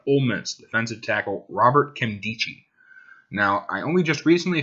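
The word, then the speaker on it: Nkemdiche: and I used to think it was like nikemdich no it's Kim dichi actually uh he's pretty big guy he's pretty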